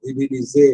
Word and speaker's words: divinisé: The divinisé S is between two vowels, அதனால Z sound ஒன்று divinisé அப்படிங்கிறோம்.